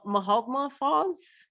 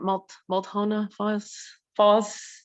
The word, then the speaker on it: Multnomah Falls: This is called Mahaltma Falls. I think did I pronounce it right? Multnomah Falls.